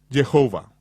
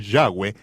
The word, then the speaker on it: Yahweh: El mundo de habla Iglesia lo ha pronunciado aún peor, al pronunciar la yud como J, Jehová. ni siquiera cerca. Cerca de 7,000 veces aparece el nombre del Señor Yahweeh en las Escrituras hebreas.